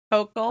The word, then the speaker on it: Hochul: Hochul. I just learned how to pronounce that.